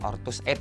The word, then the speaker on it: Ortuseight: ini dan ini memang benar-benar bacanya ngomong ortuseight ya karena kalau terlihat nih